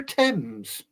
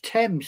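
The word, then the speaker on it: Thames: Oh, no. It's the river tens. Yes. It's all right. Big dog. How does How does How does th sound like TI? You You have to ask this woman. It's not. It's temps.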